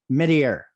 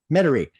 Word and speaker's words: Metairie: at uh Matt Bauer I say it right mid-air Metairie Metairie okay okay Matt Bauer uh Metairie Chevrolet Metairie